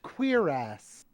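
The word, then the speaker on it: cuirass: my God it's pronounced queer ass queer ass hysterical it is literally pronounced queer ass all right wow well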